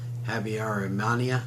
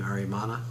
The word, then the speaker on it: Habyarimana: Habyarimana, I believe is how you say his name, Habyarimana.